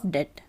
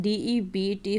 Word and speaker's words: debt: used for repayment of debt. Okay, pay attention. DEBT हो सकता है तो मैं डेबिट लगे, but this is debt. We say debt. B silent होता है.